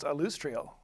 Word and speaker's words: Alustriel: silver hand you you'll see her name is pronounced alustriel oh okay who is I'm G to be